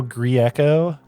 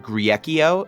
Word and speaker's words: Grieco: of grecos and uh most people just give up the best is when people try to pronounce my last name and they add syllables that just aren't there like i've i've heard griekio and i'm like where